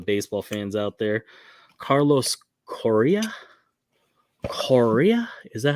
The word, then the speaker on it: Correa: Carlos Correa. Is that how you say it? Correa. Carlos yeah, Correa. There you Correa. go. Played for the Astros. It's Correa.